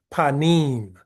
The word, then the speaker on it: panim: Um and the pronunciation of the word is panim. The Hebrew uh letters are the the P, the N, the H, the pay, noon, and hey.